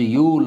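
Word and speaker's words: Yule: So George ಯೂಲ್ ಅಂತ ಅವನ್ನ ಕರೀತಾರೆ. ಇಲ್ಲಿ ಕೆಲವರು ಕನ್ನಡ ವಿದ್ಯಾರ್ಥಿಗಳು ಅದನ್ನು ತಪ್ಪಾಗಿ ಉಚ್ಚಾರ ಮಾಡಿ ಯೂಲೆ ಅಂತ ಕರೀತಾರೆ.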